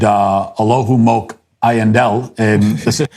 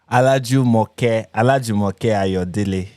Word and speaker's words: Olajumoke Ayodele: The name is actually Olajumoke Ayodele.